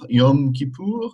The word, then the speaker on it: Yom Kippur: Yom Kippur, Yom Kippur, Yom Kippur. The M is pronounced.